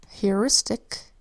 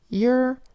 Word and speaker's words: heuristic: Heuristic is spelled with an H that says H, then an EUR that says EUR, an I that says I, an S that says S, a T that says T, an I that says I, and a C that says K. Heuristic.